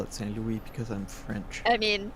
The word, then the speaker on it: St. Louis: I call it Saint Louis because I'm French. I mean, yeah, Knox is French, and I know Fable pronounces it Saint Louis, but it's everybody here calls it Saint Louis.